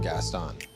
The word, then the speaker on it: Gaston: Everybody pronouncing his name weird. Gaston. I'm like, it's Gaston. Everybody knows how to say, like, everybody knows Beauty and the Beast. It's Gaston. It's very easy.